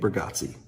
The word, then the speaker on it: Bargatze: you say his last, how do you say his last name again? B. Nick Burggatsi.